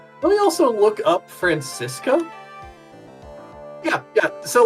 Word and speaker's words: Franziska: Is there a pronunciation? Yeah, Franziska.